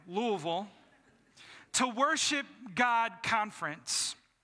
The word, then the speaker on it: Louisville: Yes, I said it right, Louisville, to Worship God Conference.